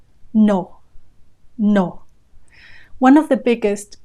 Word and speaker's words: no: in the spelling, but in Spanish the pronunciation is no. No. With no diphthong there, no two vowel sounds, just the one vowel sound. O. No.